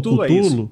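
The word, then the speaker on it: Cthulhu: só para contextualizar o o cutulo né que a gente pronunci como cutulo is exato o autor falou que ó não tem pronúncia certa pra cultul É do jeito que vem para você então de tão barbinha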